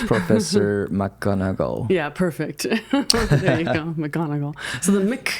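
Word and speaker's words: McGonagall: start this episode I have practiced is her pronunciation Professor M magnago okay it's a difficult name mcgonagle mcgonagle mcgonagle maybe I I made a mistake of it's difficult yeah mogle yeah it's Professor mcgonagle yeah perfect there you go mle so the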